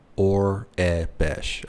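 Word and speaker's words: Aurebesh: How do you pronounce... Orabesh? Orabesh.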